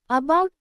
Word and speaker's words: about: In about, the first a is pronounced lightly, not like its name a or the short a, and the second part, bout, has the stress.